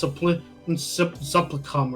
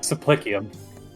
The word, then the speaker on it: supplicium: I was in a in a server where people thought it was pronounced supplicum or something. Yeah, supplicium. I love Latin. It's just that sometimes it's a hard language to learn. Well, never mind that. People just forget that C sometimes makes an S sound.